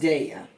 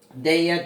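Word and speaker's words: Daiya: And I'm going to see what it tastes like with that little bit of, I think it's pronounced Daya. Daya, deliciously dairy-free, made with chickpeas.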